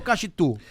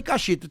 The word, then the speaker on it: Kaxitu: Mas a pronúncia certa é Cachito.